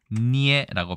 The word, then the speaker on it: 捏: 거는 짓이고 반죽한다는 뜻이죠 중국에서도 니에라고 발음을 하고 형태는 같습니다 역시 번치자도 똑같고요